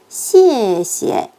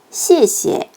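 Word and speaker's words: 谢谢: C 뒤에 E는 에 소리가 납니다.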